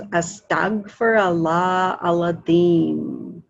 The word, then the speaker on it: Astaghfirullah al-Azim: And some people pronounce the Deem, Zeem, or theme. And usually it's the like kind of a THD sound. So it goes Astaghfirullah Aladim.